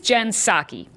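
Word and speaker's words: Jen Psaki: In the Biden administration, the job of press secretary, or really, secretary, is Jensaki. Here's a tip to help you pronounce her name.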